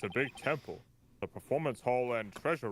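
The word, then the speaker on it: Tehm'pul: It's pronounced Temple the Temple. What? You know, the temple that this all went down in? Yeah. T-E-H-M apostrophe P-U-L. I think it's supposed to be pronounced Temple.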